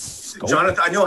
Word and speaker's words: Schoop: but this guy, I don't understand how he pronounces his name. I say Jonathan Schoop. Apparently, it's Scope.